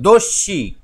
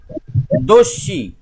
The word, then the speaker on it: দস্যি: জলের ঢেউগুলো শোনো আমি বলছি, উচ্চারণটা দেখো, দস্যি যখন জ ফলা থাকবে তখন ডবল উচ্চারণ হবে, দস্যি, মনে হচ্ছে দুটো দন্তের স আছে, দস্যি।